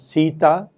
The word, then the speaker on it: Sita: For example, in a word such as Sita, both the syllables are heavy syllables. The first one is stressed, C is stressed.